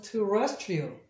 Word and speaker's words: terrestrial: 여기가 아니라 RIA니까 terrestrial 이렇게 발음을 해주시면 돼요.